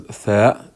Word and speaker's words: ث: On the second line, this is one way how to spell and pronounce the letter as tha in English.